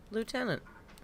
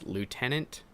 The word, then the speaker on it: lieutenant: one is um lieutenant lieutenant lieutenant i'm looking at the word lieutenant i would say it as lieutenant okay we don't say lieutenant we say next